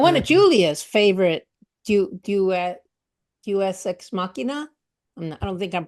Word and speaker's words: Deus Ex Machina: And one of And Julia's favorite Deus Ex Machina, I don't think I'm pronouncing it right, Deus is Ex is Machina, yeah. huh? Deus Ex That's Machina. it. Yeah. Deus Ex Machina is that the aliens show up.